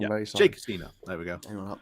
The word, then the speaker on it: Hasina: It's HSSINA, so Hasina. Should we say Sheikh Hasina? If we said that wrong, I'm very sorry. Sheikh Hasina.